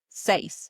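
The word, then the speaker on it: seis: 6 is next, which is say s e i s. That's right. And it's pronounced just like you would say Simon says in English.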